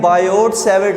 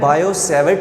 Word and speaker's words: Biot-Savart: अब याद रखें कि जब हम ये वाला नेम प्रोनाउंस करते हैं तो उसमें ये जो टी है ये साइलेंट हो जाता है, ठीक है।